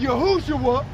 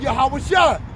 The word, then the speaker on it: Yahawashi: Our people believe that YOU CAN CALL GOD'S NAME Yahweh and Yahushua and be saved, WHICH ARE BASED ON VOW points and on the Latin and Greek pronunciation of what those two words are. Okay. The true names of the most high and his sons is Yahawah as I stated earlier in the video and Yahawashi. All those that call UPON